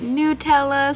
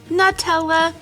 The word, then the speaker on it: Nutella: I know some people pronounce it Nutella, some people pronounce it Nutella.